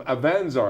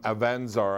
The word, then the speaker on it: Avanzar: Mark is here from Avanzar. I said it wrong earlier on. I said Avanzar. And so, you know, what do I know? The accent they grabbed was on the wrong syllable, right?